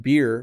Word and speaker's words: beer: And then beer, B-E-E-R, is pronounced beer.